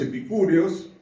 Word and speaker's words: epicúreos: igual que nosotros, y los epicúreos, el acento en la U, y ahí es donde Pablo fue difamado, despreciado, fue juzgado insensatamente, ¿sí?